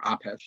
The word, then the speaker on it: Apess: And a great example of that is a guy I write about in that chapter, William Apess, or Apesh, it's pronounced, a Native American orator and minister and